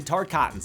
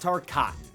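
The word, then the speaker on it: Tarkatan: on her side and yes it's pronounced tar cotton I got it wrong in the last video and honestly it feels like Baraka called me out personally it's t coton Earth reala to be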